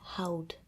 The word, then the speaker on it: houd: So you remove en and the I form would be houd. Ik houd. But in like daily speech and in pronunciation, you don't really pronounce that D.